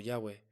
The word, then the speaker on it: Yahweh: Entonces, ¿cuál es la pronunciación correcta? Los eruditos modernos han propuesto varias posibilidades, siendo las más aceptadas Yahwe o Yahweh, basándose en testimonios de escritores antiguos como Clemente de Alejandría y Teodoreto de Ciro, quienes mencionaron que los